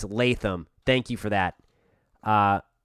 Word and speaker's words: Latham: here and correcting me on that so it's Latham thank you for that uh really appreciate that